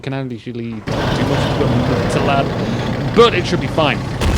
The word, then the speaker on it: Matilda: We do have a Matilad, or Matilda, if you pronounce it correctly, supporting a whole load